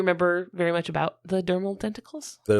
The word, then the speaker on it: dermal denticles: What is the correct pronunciation? Dermal denticles.